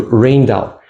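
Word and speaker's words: Rijndael: It is spelled R I J N D A E L. So Raindal that is another name for advanced advanced encryption standard.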